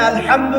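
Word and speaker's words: الحمد: আচ্ছা, এখানে আলহামদু কেমন করে উচ্চারণ করেছেন? গলার কথা থেকে, মাঝখান থেকে না?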